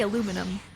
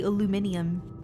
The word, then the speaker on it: aluminium: aluminum I can say aluminum but I think in like England they say aluminium very interesting anyone here from